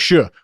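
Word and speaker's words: Shough: That's Shuh. Your last name is Shuh, like Doe maybe, or Show. It's not Shook.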